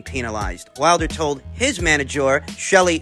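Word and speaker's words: Shelly: wilder told his manager shelley finkel pronounced chalet this is all becoming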